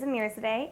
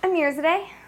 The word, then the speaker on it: Amirzadeh: So it's P as in princess, and then my last name is Amirzadeh, as in Mary, Irzadehasl. Say it again. Amirzadeh. Amirzadeh, and it's A-I-R? -I-R. -I-R. Yep. Amirzadeh.